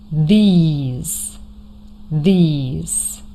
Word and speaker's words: these: They they then this this these these. The difference between the last two words is a short I and a long e sound.